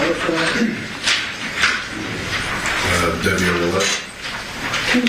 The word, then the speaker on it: Devyn Willette: Devyn Willette. Can you spell that for us, sir?